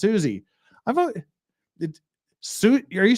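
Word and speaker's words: Siouxsie: in the Banshees fan but it's pronounced Suzie I've Su are you saying Suzie in sushi in the bans is pronounced Suzie in the Banshees everybody in America pronounce it sushi in the Banshees anyway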